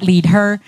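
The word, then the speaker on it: leadHer: The leader is spelled with an H in there for her. So it's lead her, so that we can elevate future female leaders.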